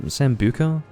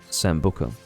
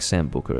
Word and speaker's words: sambuca: it's called Sam Sambuca there's a few ways in which I could probably pronounce it in Australia it's commonly pronounced sambuca but I don't like Sam Booker it sounds a bit too Australian doesn't it sambuca I'm gonna go and get some sambuca mate and quite frankly that's off-putting the bottle as I